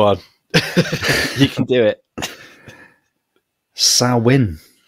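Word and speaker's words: Samhain: you can do it sawin it says here SN it's it's right it's spelled like Sam hay yeah I think after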